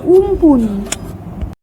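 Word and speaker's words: Amphan: আমফান বা উমপুন শব্দের অর্থ আকাশ। স্থানীয় ভাষায় এর উচ্চারণ উমপুন।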